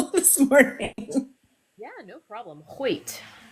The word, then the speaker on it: Hoyt: Because I was I'm sure I butchered it on the video this morning. Yeah, no problem. Hait like the I might have been close.